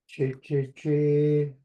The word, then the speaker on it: Ciiqciqasa: C wedge sounds like ch in chop. Ciiqciqasa.